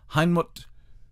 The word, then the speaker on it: Heinmut: to spell that phonetically so heinmut it sounds almost german but it's not uh heinmut tu young joseph who was then about 30 years old and this is in 1871.